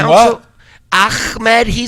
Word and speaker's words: Ahmed: Well, it's pronounced Ahmed. You don't have to.